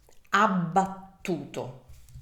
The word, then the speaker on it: abbattuto: This word is abbattuto. So abbattuto. Abbattuto. Oh, this is also a very tricky word to pronounce with all those double consonants.